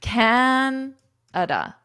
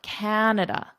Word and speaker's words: Canada: Canada. So this da is quite short. Canada.